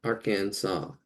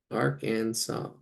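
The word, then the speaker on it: Arkansas: here arkans AR Kansas why do they spell it that way confus me as a child I was already confused why they got to do that spell it the way it sounds Aransas Aransas I know we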